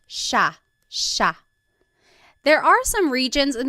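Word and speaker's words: siya: the spelling it looks like it should be pronounced CA but it's actually pronounced Sha Sha there are some regions in the Philippines that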